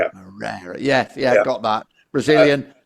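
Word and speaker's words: Moreira: between now pronouncing this gentleman's name is well pronouncing names is not my strong point anyway. Diego Mosida is it or Morera Morera. Yeah Morera.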